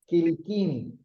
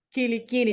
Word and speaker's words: Quilicini: El apellido, Sí, Kilikini. Quilicini. Se Yo hice escribe la Kilicini, pero se pronuncia Kilikini.